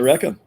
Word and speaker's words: IRECA: I think so you talked about an organization, IRECA? Yes. IRECA.